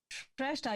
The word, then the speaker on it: Shrestha: would you mind providing a pronunciation for your last name? Is it Shrestha? Shrestha, yeah, that's correct.